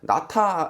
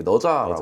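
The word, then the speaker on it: 哪吒: 거기에서 중국 사람들이 그니까 나타 그니까 그이 한자로 발음할 때 우리가 말할 때는 이렇게 나타네 실제로 중국인들이 발음 이렇게 너자라고 한대 그래가지고 이제 그 주인공 이름이 너자예요.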